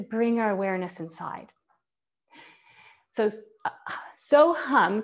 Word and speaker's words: So Hum: our awareness inside so so hum can also be pronounced as hamsa and hamsa in sanskrit